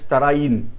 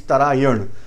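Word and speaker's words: Tarain: In English, many times pronunciation we are pronouncing as Tarayin. It is not Tarayin, it is Tarayan.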